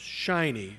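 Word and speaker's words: SHIN-NY: Information Network of New York and that is pronounced shiny so the um Madison Avenue folks came up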